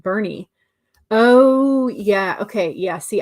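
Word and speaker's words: Boerne: So like in Texas, born is pronounced Bernie.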